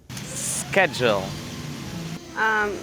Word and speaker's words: schedule: Jay and I say this word in different ways. Schedule. Schedule. So in British English, you say schedule. Yeah, schedule. So you don't say schedule?